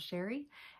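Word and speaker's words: Chere: My name is Sherry and that is spelled C-H-E-R-E. It is spelled a little fancy but pronounced plain old Sherry, and I'm a full-time high school English teacher and a part-time reseller here on YouTube.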